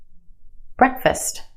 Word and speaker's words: breakfast: F-A-S-T, fast. Put it in this word and it becomes fust, fust. Breakfast, breakfast.